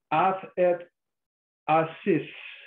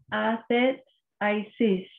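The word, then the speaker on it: athetesis: The word here, the Greek word here, is athet asis. Es athet asis. Athet asis. I'm going to spell that for you so you can write it in your margin. Este es el griego. Es a t h e t e s i s.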